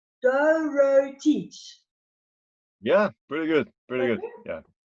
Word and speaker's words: Dorotic: Dorotic.